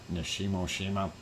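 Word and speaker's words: Nishinoshima: We still see Shimin Nishimo Shima. There we go. Got it pronounced correctly. Nishimo Shima is still in orange, and then of course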